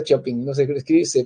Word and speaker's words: Chopin: Bueno, se escribe Chopin, ya, pero no se pronuncia Chopin, no se escribe, se pronuncia Chopin, ya, Federico Chopin.